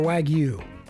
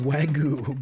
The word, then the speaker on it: Wagyu: First off, wag-oo or wag-you? General consensus is wag-oo, but of you got a different pronunciation, go ahead and put it phonetically in the comments here.